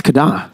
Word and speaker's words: KDA: I keep forgetting the correct pronunciation. It's Kada.